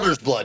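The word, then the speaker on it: Alder's Blood: Am I pronouncing that correct? Alger's Blood, yes.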